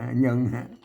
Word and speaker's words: เยิง: ไม่ เยิง น่ะ เยง เยง เยิง อ่ะ เยิง อัน นี้ เยิง นะ ครับ เยิง ยอ นะ ตัว ย เนี่ย อ่าน ว่า เยิง นะ ก็ เยิง มา นี้